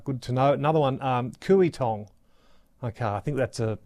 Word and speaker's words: Kooyong: Another one Kooyong. Okay I think that's a pronunciation correction uh for uh for us.